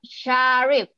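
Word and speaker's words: Syarif: It's S-Y-A... R-I-F, Sharif.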